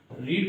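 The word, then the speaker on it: read: रीड की third form रीड ही रहती है बट उच्चारण रेड हो जाता है।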